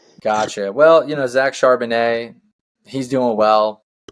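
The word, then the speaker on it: Charbonnet: well you know Zack shanet he's doing well his name rhy rhymes with shardon give me the Seahawks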